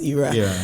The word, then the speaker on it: Ayra: was like let me check what IRA and I spelled like a-y-r-a yeah and Ira literally